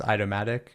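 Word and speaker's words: Aitomatic: pronounce this incorrectly, but I think it's Idomatic or I. Absolutely, that's correct. Yes, that's Yeah, how we pronounce it.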